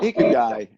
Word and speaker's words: Ikigai: Number 5, I forgot to ask them how to pronounce this Japanese word, but what is, Bill? Ikigai.